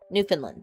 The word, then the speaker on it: Newfoundland: Newfoundland. There we go. Sometimes I mispronounce it because I think of the dog breed.